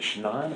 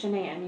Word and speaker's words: Shanann: friends with is it shine or shanann it's shanann you pronounce it like shanana games everybody calls her